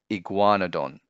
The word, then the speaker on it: Iguanodon: Four syllables, ig-wa-no-don, Iguanodon.